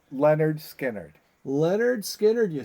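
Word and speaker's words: Lynyrd Skynyrd: two Legacy bands but it's pronounced Leonard skinnard Leonard skinnard you say Okay JT what do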